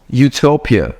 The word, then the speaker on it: utopia: This one is pronounced as Utopia, okay?